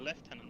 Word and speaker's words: lieutenant: not a left or it's a left tenant not a lieutenant H okay I know